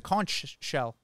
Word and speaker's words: conch: today I learned that it's pronounced con not conch is it conch or conch I think he had an accent when he was telling you conk oh yeah the taxi